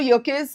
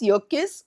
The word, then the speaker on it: Yerkes: Okay, now this Yerkes or Yerkes, different people pronounce it differently. Okay, so it's perfectly all right however you pronounce Yerkes or Yerkes. I've heard different scholars pronounce the surname differently.